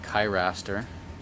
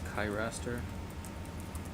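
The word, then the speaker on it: Cheiraster: rack to get the yeah perfect this is kai raster very spiny we've seen it at least nine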